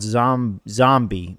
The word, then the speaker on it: Zombi: But the one that I want to highlight is called Zombie, but it's spelled Zombi.